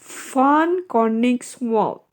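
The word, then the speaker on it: von Koenigswald: Ya bacanya ya. Van Koningswald kayak gitu.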